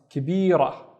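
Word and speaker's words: كبيرة: Then I would add a ta marbuta, and it becomes kibira, kibira, which means big but feminine. طيب, let's look at this word. The first syllable is ki, and then tab, kitab, and kitab is a book.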